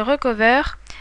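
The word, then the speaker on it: Recuva: Donc pour cela, il faut installer un logiciel qui s'appelle Recover euh mais qui s'écrit RCUVA.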